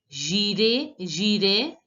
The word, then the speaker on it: j'irai: Si le temps le permet, j'irai. The last S is not pronounced, and you all know that AI has to be pronounced as A. So it becomes j'irai, faire, yun.